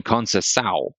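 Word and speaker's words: concessão: And then concessao. And there you've got the hard C for the beginning, but then an S in the middle, and then an S for the double S.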